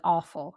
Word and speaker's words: AWFL: It sounds like awful, right?